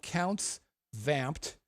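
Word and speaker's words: Count's Vamp'd: Las Vegas it's called counts vamped counts as in the possessive count counts vamped va MP apostrophe D counts vamped easily the quintessential rock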